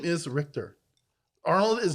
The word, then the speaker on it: Richter: But his name is Richter. He's actually saying it right.